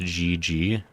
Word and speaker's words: GG: we're both hoofing it the mammoth's name is pronounced GG oh like Global gameplay I gotcha because it